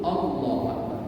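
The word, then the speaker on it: الله أكبر: contohnya begini Bapak Ibu Allahu akbar ini kan panjang jadi Takbiratul Ihram itu justru tidak dianjurkan untuk membacanya dengan panjang betul pada lamnya lafaz Allah itu dibaca panjang cuman dengan panjang yang sederhana Allahu Akbar itu yang dianjurkan Kenapa kemudian tidak panjang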